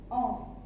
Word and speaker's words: un: 1 is on.